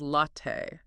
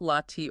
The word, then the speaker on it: latte: The native pronunciation which comes from Italian is latte, not latte or latte. That distinct stressed ending t is the standard.